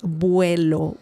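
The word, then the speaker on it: vuelo: Uh but uh the next word let's continue the the next word is buo. Buo remember the v sound in Spanish is similar to b as in bell.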